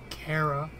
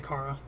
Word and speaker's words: Kara: right Kara yes like that's such a weird way to say her name kara well we should just care a lot about that kid ha ha I should just be quiet we don't normally I would you say Cara but I do appreciate